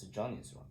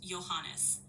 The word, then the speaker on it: Johannes: It's Johnny's one. It's Johannes. Yes, that's correct. It's pronounced Johannes.